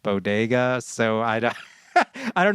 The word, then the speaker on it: bodega: talking about uh the bogo does of the bronx uh i she meant bodega i guess and i'm not remotely a new yorker uh but i know that it's pronounced bodega so i don't i